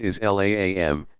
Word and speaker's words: Islam: the root meaning of the Arabic word Islam pronounced is laam to the one true